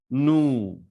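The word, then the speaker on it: nous: vu next we have nu nu is used for v like in english we have the word tour so in that o is being pronounced as oo so remove the t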